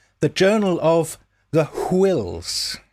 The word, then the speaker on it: Whills: A synopsis was eventually arrived at called The Journal of the Whills. It's W-H, so you've got to pronounce it Whills.